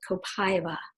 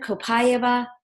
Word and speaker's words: copaiba: co Pai be a lots of people are trying to figure out how to pronounce it I'm going with copaiba kind of copaiba it is derived from